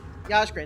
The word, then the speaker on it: Yaskrin: So Yaskrin, or is it Yaskrin? You guys made weird names and made me confused. I keep saying it wrong. Yaskrin is right. I feel like I want to say Yazrik.